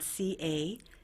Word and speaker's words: Cagli: our Italian sister city, which is called Cagli. Okay. It's spelled C-A-G-L-I, Cagli.